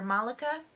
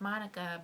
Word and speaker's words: Malaka: their American Dream by Malaka grieve or Malika sorry it's pronounced Monica but Monica Monica grieve and this one I